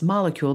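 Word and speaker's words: Molekule: k UL e dot-com so that's molecule that's spelled with a k and then enter the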